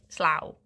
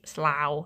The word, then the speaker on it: Slough: is slough. It's like slough, like cow.